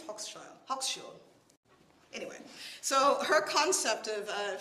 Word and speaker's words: Hochschild: I make this joke all the time, but no one can tell me how to pronounce this woman's name. So anyway, I think it's Hochschild.